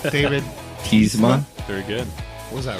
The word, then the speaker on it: Tiesma: And our friend, who I should have asked for his last name, how to pronounce it right, David Tiesma.